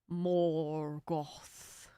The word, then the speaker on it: Morgoth: What is Morgoth's other name? What did Sauron disguise himself as? No idea. Morgoth was, wasn't he the person who came before Sauron? Wasn't he like the big bad before Sauron? Morgoth.